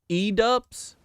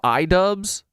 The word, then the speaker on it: Idubbbz: Edubs kill pedos. What's edubs? Oh my god, dude. This is like edubs can refer to an innovative educational platform for medical students. It's a horrible mis pronunciation of Idubbbz.